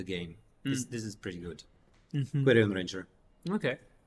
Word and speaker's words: Quirion: Quirion Ranger, Okay. Querdlon. Good line, yeah. Severely mispronounced name of the word Quirion, Yes, which can just become good.